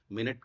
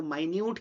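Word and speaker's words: minute: जैसे इंग्लिश का एक वर्ड है मिनट। मिनट का आप जैसे मैंने आपको उच्चारण किया मिनट, तो आपके मन में आया समय। ठीक है, 60 मिनट का 1 घंटा। वहीं पर इसको मैंने माइन्यूट कह दिया। माइन्यूट यानी कि टाइनी, छोटा। मिनट, माइन्यूट, स्पेलिंग एक सी है पर उच्चारण में भी देखिए अर्थ अलग अलग आ रहा है।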